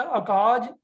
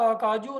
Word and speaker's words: अकाजु: इसी तरह अकाज के ज के नीचे छोटे ऊ की मात्रा है। तो इसको हम जन्मू या अकाजू नहीं पढ़ेंगे, इसका उच्चारण होगा जन्म और अकाज।